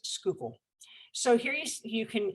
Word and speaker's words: Schuylkill: from this area on how you pronounce schuylkill uh it is not shulkhill it is schuylkill so here you you